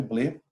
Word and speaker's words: Blet: a segunda guerra mundial de Pierre BL se escreve blet e um outro livro